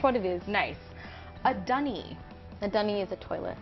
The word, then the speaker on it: dunny: A dunny. A dunny is a toilet outdoors. Okay. It sounds so much cuter, like because it rhymes with bunny.